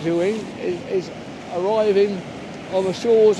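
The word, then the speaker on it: Éowyn: Stormeowyn, we think it's pronounced Ewing, is arriving on the shores of Ireland at 2 AM this morning.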